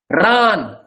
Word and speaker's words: ran: Ran. Longer, because there is only one vowel.